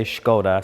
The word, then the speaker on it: Skoda: at the brand new Skoda Superb. Now, a lot of people commented on my last video. Sometimes I say Skoda, sometimes I say Skoda. In Ireland, we pronounce it that way, so that's the reason.